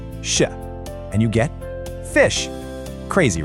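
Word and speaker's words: ghoti: Maybe goddy. Just take a second and lock in your answer. You got it. Okay, you ready for this? That word is pronounced fish.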